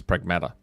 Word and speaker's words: Pragmata: Uh it's funny how I didn't go with the Australian style um pronunciation and it turns out that's what it is. Pragmata.